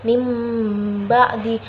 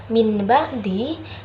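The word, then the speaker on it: مِنْ بَعْدِ: namanya bacaan iqlab hai kenapa ya bacanya mimba'di bukan Min ba'di Nah karena disitu ada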